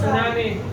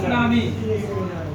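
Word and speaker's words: tsunami: नाम से जानते हैं सुनामी इसको लिखते इंग्लिश में ट सुनामी ठीक है ये याद रखिएगा टी इसमें साइलेंट होता है ठीक तो सुनामी होता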